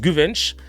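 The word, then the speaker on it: Güvenç: Il s'appelle, alors ça se prononce Guvench, mais ça s'écrit G-U-V-E-N-C-C-D.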